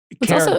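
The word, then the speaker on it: Karat: Carrot, by the way, spelled with a K. If you're Googling along as we go, K-A-R-A-T.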